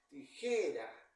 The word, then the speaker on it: tijera: s ni en vocal tijera Dónde lleva la fuerza de voz en la penúltima sílaba pero no recibe tilde Por qué Porque sí